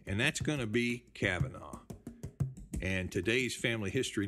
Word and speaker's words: Kavanaugh: And there's some related spellings you might not notice at first, like Kevan or Coveney or Kavanaugh. It rhymes with Havana, but it's got nothing to do with Havana.